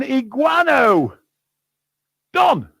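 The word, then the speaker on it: Iguanodon: are looking for an iguano don it rhymes with ron you know the negro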